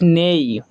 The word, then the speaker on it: neigh: हॉेज नेई हॉेज नेई meaning in Hindi हॉेज नेई का हिंदी मतलब क्या होता है? यहां पे जी साइलेंट है इसलिए इसको हम ने बोलते हैं।